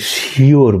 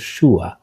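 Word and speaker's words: sure: আমরা যেমন ধরেন আমরা যেটাকে শিওর বলি সেটা হচ্ছে শুয়া।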